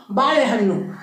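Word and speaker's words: ಬಾಳೆಹಣ್ಣು: लेकिन एक और ध्वनि होती है अड़ा अड़ा, मतलब जब जीभ है उसको जस्ट ऊपर में जाकर टच करना है अड़ा, मतलब ला भी नहीं अड़ा भी नहीं अड़ा अड़ा बीच में, ठीक है।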